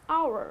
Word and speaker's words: hour: However, it is pronounced as hour, right? The H is silent here, so that becomes your vowel sound.